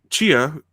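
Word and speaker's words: Tchia: be a functional chia how do you spell that it's called t c h oh oh i know i know which one you're talking about i didn't know how that it was pronounced like that though about the south uh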